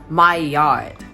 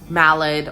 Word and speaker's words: Maillard: about the mild reaction it's pronounced my yard not mallid or malliard the mild reaction is